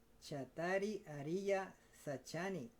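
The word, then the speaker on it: cattāri ariyasaccāni: Chattari Ariya Sachani. I think that's how you pronounce that. So the C is like in Italian. It's often CH sound.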